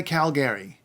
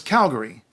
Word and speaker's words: Calgary: Alberta's biggest city is Calgary you can say Calgary if you want but don't say Calgary its Calgary and Calgary was named after